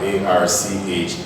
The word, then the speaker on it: archdiocese: And option D, we have ARCHDIOCESE.